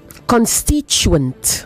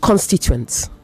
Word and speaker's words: constituents: Constituent, not constituents. Constituents. The stress is on the second syllable, whether you're counting from the front or from behind.